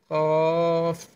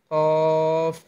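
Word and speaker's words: قاف: হরফটির উচ্চারণ কি? কফ, কফ, কফ।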